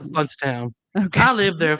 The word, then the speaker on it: Blountstown: It's Bluntstown, pronounced Bluntstown.